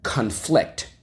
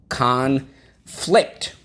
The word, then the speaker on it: conflict: Okay, so there are great examples of the word conflict. Let's go. Conflict on the second syllable.